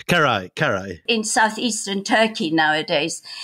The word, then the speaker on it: Carrhae: Am I pronouncing it right? Carrhae? Carrhae. Carrhae, Carrhae.